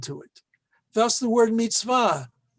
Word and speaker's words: mitzvah: Thus the word mitzvah right here, okay? It's very clear to see how it's pronounced, mitz, and then va.